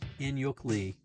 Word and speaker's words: In-hyuk Lee: In sounds like the English word in. Hyuk sounds like yuck, like with a quick, light guttural or aspirated H sound before the yuck vowel. Oh, and Lee is pronounced as Lee. Thank goodness for that. Okay, so Ain-Hyuk Lee. There we go.